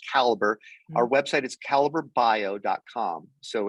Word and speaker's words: Calibre: But people can find our website at, a lot of people say Calibre, but it's actually, we pronounce it Caliber.